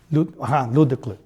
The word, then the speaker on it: Luedecke: How do you pronounce it in German? Luedecke.